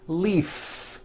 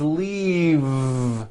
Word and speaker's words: leave: with a voic V keep the voicing going throughout the whole word and voice the V leave V like that if you stop the voicing at the end of the vowel e then you would be saying leaf with an unvoiced f and the word we're trying to say is leave with that voiced V okay now let's look